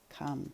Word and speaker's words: come: hear in the middle and this is a silent ear i don't say i just say come c-o-m-e okay well if you